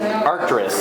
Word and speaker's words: Arcturus: And how do you pronounce it? Arcturus.